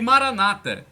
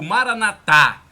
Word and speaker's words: maranata: e persevere o e maranata como dizem os protestantes ou maranatha como dizem os católicos e os protestantes dão a tônica na penúltima sílaba os católicos coloco a tônica na última sílaba mas o que interessa